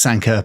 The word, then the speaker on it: Sanquhar: So it's pronounced Sanka, but it's spelt like Farquhar.